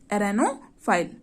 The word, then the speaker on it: arenophile: Spelling है ARENOPHILE, एरेनोफाइल, ठीक।